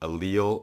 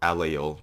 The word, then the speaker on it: allele: 3 l's in it you can pronounce it allele or alejo depending on you are in the world I'm going to probably